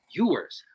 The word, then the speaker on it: Ewers: Ewers. Learning how to pronounce on the Straub Sports Show.